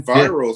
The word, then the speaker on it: Enviro: Yeah, they're in Enviros, aren't they?